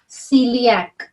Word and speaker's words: celiac: Yeah, if there's a C before E and I, it's called or pronounced as S, like celiac or cirrhosis.